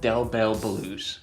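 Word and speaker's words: Del Bel: His name is literally pronounced Dell Bell.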